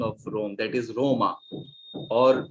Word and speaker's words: Roma: or to use the uh no the italian pronunciation of rome that is roma or venezia venice is venezia in italian and